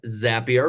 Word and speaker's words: Zapier: And then we also have Tracy from Zapier, rhymes with happier today.